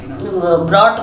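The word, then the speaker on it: brought: आया तो इसमें जो ब्रॉट में आप देखेंगे कि टी के पहले जी ए आया हो जहां पे भी तो वो हमेशा साइलेंट रहता है शी के बाद अगर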